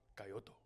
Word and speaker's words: Kyoto: We booked this sick room in Tokyo in Kyoto where it like overlooks Mount Fuji. Can you pronounce it correctly, please? Kyoto. Coyoto. I'm not doing that. Why? That's how they say it.